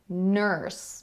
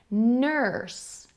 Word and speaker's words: nurse: are s e but we pronounce it nurse the same as the ER sound on the end of the word father nurse nurse father father this